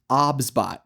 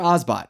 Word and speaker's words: OBSBOT: And yes, it's pronounced Obsbot, not Ozbot.